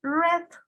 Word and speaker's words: read: ¿Cuál es el pasado de read? Busquen en la lista de verbos. El pasado de read es read. Read. Se escribe igual, pero se pronuncia diferente.